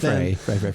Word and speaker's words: Frey: I was like, it's pronounced Frey.